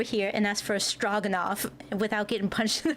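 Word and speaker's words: Stroganoff: The O is pronounced more like log straw. It's a strogenoff.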